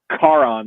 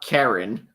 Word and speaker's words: Charon: Charon. Like, you just left the car on. But not Karen.